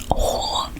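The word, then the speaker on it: 火: tôi, điều này chỉ để ghi nhớ cách phát âm đó là "Huo" (không phải giọng Anh của "Whore" lol) nhưng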